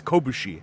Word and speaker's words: Kobushi: Sorry, that's Kobushi, actually, if you pronounce it correctly.